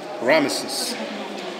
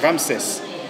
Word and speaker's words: Ramesses: europeans they pronounce it ramesses promises well in french we say ram says in english you say ramesses here you also have